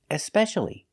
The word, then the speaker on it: especially: So what's especially? If I put an E at the beginning and I pronounce the E, especially, this means more than the others.